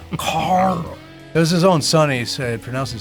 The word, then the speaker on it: Carl: You got to say it like Rick from The Walking Dead. Carl.